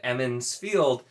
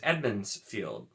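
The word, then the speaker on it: Emond's Field: the the town of emin's field i had my brain told me it was edmonds field and it was not for at least like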